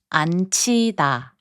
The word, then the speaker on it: 앉히다: In the last group of words, 지읒 and 히응 are combined to make a 치읒 sound. 맞히다, to guess right, is pronounced as 맞히다. 꽂히다, which means to be stuck, is pronounced as 꽂히다. 앉히다, which means to make someone sit, is pronounced as 앉히다.